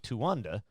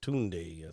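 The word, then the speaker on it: Tuendae: The site is also the location of Lake Tanda. Am I pronouncing that right?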